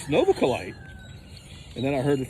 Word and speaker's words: Novaculite: And I was saying something like Novaculite. It's Novaculite.